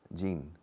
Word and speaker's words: Gene: Kelly olajin caused us Gene it's GM and you must close your mouth the IM am Mamma